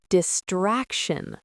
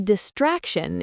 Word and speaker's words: distraction: The stress is on the middle part.